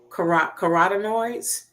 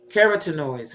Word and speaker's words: carotenoids: put it this way, the phytochemical carotenoids, carotenoids rather. I always mispronounce that word the first time I say it.